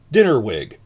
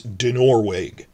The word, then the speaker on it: Dinorwig: I've been saying with the stress in the first syllable, so my outrageous New York accent, which I try to hide, I'd be saying Dinnerwig, because I'm stressing the first syllable. It's Dinorwig. The second, try to stress the second syllable. Don't just instinctively stress the first one.